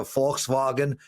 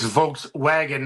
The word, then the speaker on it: Volkswagen: It's Volkswagen, not Volkswagen. I don't need your shit. First and you are foremost. wrong. You are wrong, Matthew. It is a German name. The Germans pronounce it We're not Wagen.